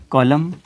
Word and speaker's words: column: अब यहाँ पे देखें कि N से पहले जब भी M आएगा तो क्या होगा कि N जो है वो साइलेंट हो जाएगा, उसकी अपनी आवाज़ नहीं होगी।